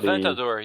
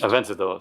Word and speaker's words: Aventador: But you got Lamborghini Diablo, you got the Lamborghini Aventador, you got Aventador, yes. Aventador. Sorry, I pronounced it wrong. Yeah. Gallardo. But that's Murcielago. Wait, you're saying the Lamborghini Aventador is the one that looks different?